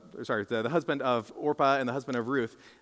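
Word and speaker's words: Orpah: a lady named orpa everyone say orpa not Oprah but orpa all right I can't tell you how many times I read that my mind just like Oprah no not Ora Ora that's how you say it uh and then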